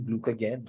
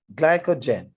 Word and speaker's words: glycogen: and store it in glucogen glucogen look at glucagon glucogen glycogen glycogen i don't know why i keep pronouncing the word wrong glycogen good so no that